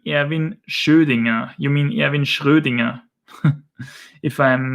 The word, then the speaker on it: Schrödinger: How do you pronounce the name Erwin Schrödinger? You mean Erwin Schrödinger, if I'm not mistaken.